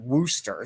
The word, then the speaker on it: Worcester: that it's spelled in Massachusetts but he everybody pronounces it Wooster so so that's the way he that's that's